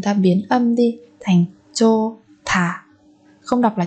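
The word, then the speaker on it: 좋다: Còn ở đây chúng ta biến âm đi thành chô thả. Không đọc là chốt tà các bạn nhé.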